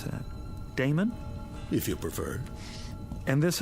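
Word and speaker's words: Adaemon: How do you pronounce that? Damon, if you prefer.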